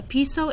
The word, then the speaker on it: piso: Our I's sound like E's, so piso, una casa, jardín.